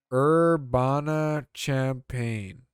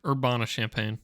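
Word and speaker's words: Urbana-Champaign: what the how do you pronounce this check this out okay urbana champaign yeah or urbana champagne urbana champagne sure uh i am an artificial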